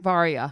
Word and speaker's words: Varia: you say her name varia varia yeah it's like Arya but with a V okay yeah weird awkward